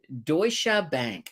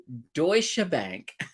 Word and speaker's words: Deutsche Bank: had mentioned uh now Wayne says it say Deutsche Bank there we go Deutsche Bank that sounds a lot better than what I